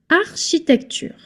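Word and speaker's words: architecture: This one I know in English it's R key. But no, in French when you have ch plus a vowel like here, it's the sound sh. You can hear C as in English if it's followed by a consonant as in Kristoff as in Christ kind of ch plus consonant C but otherwise sh.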